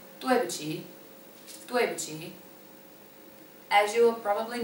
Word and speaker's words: 对不起: If you would like to apologize for something, you say 对不起, 对不起.